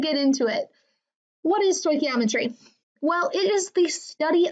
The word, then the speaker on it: stoichiometry: Yes, this word that is right here is pronounced stoichiometry.